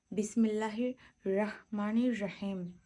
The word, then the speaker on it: বিসমিল্লাহির রাহমানির রাহিম: এখানে সঠিক উচ্চারণটা হবে বিসমিল্লাহির রাহমানির রাহিম। হাটা গলার মধ্য থেকে আসবে রাহ। বিসমিল্লাহির বিসমিল্লাহির রাহমানির রাহিম।